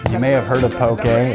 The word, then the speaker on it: poke: be having poking you may have heard of poke a it's pronounced okay